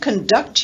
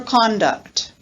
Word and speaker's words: conduct: authority if you don't conduct yourself appropriately i'll give you a failing grade for conduct so these are just examples of noun verb adjective pairings and the difference in stress is the teacher presented the